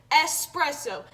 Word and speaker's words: espresso: habit okay but I'm trying to break it espresso espresso okay I got it okay I got